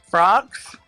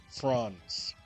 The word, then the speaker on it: Franz: My name is Franz. Frogs? Franz.